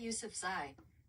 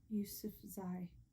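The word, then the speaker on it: Yousafzai: Ysef Z. Ysef Z.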